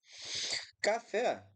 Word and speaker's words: café: Café, a gente, de forma alguma, vai ter café com uma proparoxítona, né? Porque a sílaba tônica aqui é a última.